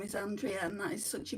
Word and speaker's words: Andrea: Well, my name is actually Andrea, but there's too many Andreas. Like in where I live, people call me Andrea, but in Europe, where my name is from, my mum's from Germany, it's pronounced Andrea.